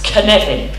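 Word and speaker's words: Cynefin: their hand there so this is how you spell and pronounce connecting it's a welsh word okay so connecting is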